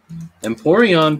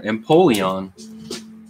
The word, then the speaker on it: Empoleon: be the normie art emporion pack and there's no r empoleon pack oh